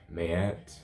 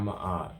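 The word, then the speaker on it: Maat: So individuals like Mayat, not Ma'at. That's not how her name is pronounced.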